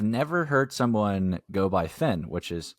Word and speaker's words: Phen: we have now yeah um but yeah so Finn I always kind of liked I I have